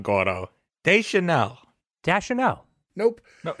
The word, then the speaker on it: Deschanel: a Zoe Deschanel. Almost. Again, no. She reminded me of an English proxy for Rashida Jones, personally. I just want to point out, you're still saying her name wrong, Gordo. Deschanel.